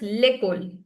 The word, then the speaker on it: l'école: In singular, it's l'école.